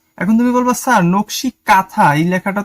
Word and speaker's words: কাঁথা: ঠিক আছে, চন্দ্রবিন্দুটা অনেকটা একটু নাকে বাজে, তাই এর উচ্চারণটা হওয়া উচিত কাঁথা, কাঁথা। ঠিক আছে, এরকম নকশি কাঁথা। কিন্তু আমরা তো একদমই প্লেন ভাবে উচ্চারণ করি নকশি কাঁথা, কিন্তু সঠিক উচ্চারণ হচ্ছে কাঁথা, সেজন্য একটা এন দেওয়া হয়েছে।